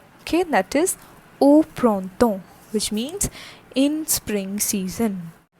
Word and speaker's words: au printemps: O, that is AU, and it has sound like O. O. Okay, collectively it is said like au printemps. Au printemps.